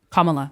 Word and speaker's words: Kamala: It's comma, like a comma. A comma? Yeah, comma la. Kamala, that's her name. So there's a comma in it? There's not a comma in it, that's just how you pronounce it.